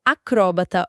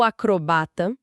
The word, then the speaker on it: acrobata: E para mostrar que nem a própria norma é tão rígida, existem palavras que admitem dupla pronúncia correta, como acróbata ou acrobata, xerox ou xerox.